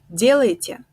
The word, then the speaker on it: делаете: But when we pronounce it actually in Russian, we say вы делаете, вы делаете. The first ye is stressed, the first one is stressed, вы делаете.